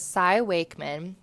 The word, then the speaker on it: Cy Wakeman: followed for a while now her name is Sai Wakeman it's spelled c y and then Wakeman w a